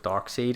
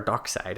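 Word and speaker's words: Darkseid: fallen out of favor with dark seed and he is trying to get back our dark side i think is how you actually pronounce it but he is trying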